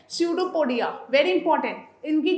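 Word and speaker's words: pseudopodia: ऑफ the process called स्यूडोपोडिया. स्यूडोपोडिया, P silent, बाकी सब violent, right.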